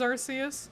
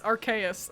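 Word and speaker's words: Arceus: Pokemon world in Legends Arus. Ah, it's Archus. I need to I need to learn to say it right now that I've learned learned the proper name.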